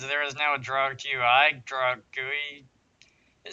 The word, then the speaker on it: GUI: events here, and there is now a draw GUI, draw GUI. It sounds like that should be how this word is pronounced, GUI, but apparently everybody pronounces it that